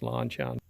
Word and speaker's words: LanShan: But I do have a yellow LanShan is actually the way it's pronounced, LanShan.